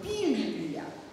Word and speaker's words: пилюля: Но мы больше привыкли видеть это слово с ударением на втором слоге. Пилюля.